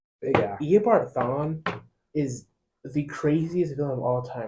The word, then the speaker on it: Eobard: Like Bart Simpson, but Eobard.